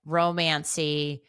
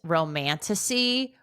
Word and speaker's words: romantasy: In the last episode, I said romancy. And then this weekend, I heard it's romantasy, which makes way more fucking sense.